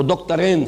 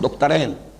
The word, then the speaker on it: دکترین: ابھی نام لوں گا، وہ دکترین ہیں، میں عربی تلفظ استعمال کر رہا ہوں، دکترین، دو ڈاکٹرز ہیں، لیکن یہ کہ وہ فکر جدید کے حوالے سے کرنے کا کام کیا ہے؟